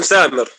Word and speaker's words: ثامر: دكتور ثامر، اسم ثامر. اسم ثامر. في ناس بتفضلوه ثامر، في ناس بتفضلوه سامر، يعني وفي ناس بتفضلوه ثامر برضه.